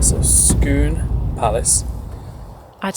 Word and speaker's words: Scone: I think we'll stick with Scone. I think we'll probably should stick with the correct pronunciation, how the Scots pronounce it, shouldn't we?